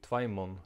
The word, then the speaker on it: tveimum: The Faroese dative final m is pronounced n. Here's a sentence example of how it might work. Tvær stormar åttu tvær åttjar og tveimon London.